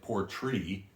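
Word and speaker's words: Portree: now this is actually named after the biggest town on the aisle of Sky which is poor looks like Port tree uh the way it's spelled normally but this is the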